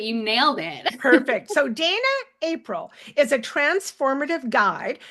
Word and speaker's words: Dayna: So, now I forgot to ask you, you pronounce it Dana. I do. I know it's got a why in there and it really people off, but you nailed it. Perfect. So, Dana April is a transformative guide who helps individuals,